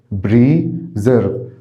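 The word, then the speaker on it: preserve: ازياء خاصه بريزيرف بريزيرف بريزيرف طبعا هنا نطقت الاس ذا نطات الاس هنا ذا بريزيرف معناها يحفظ او يصون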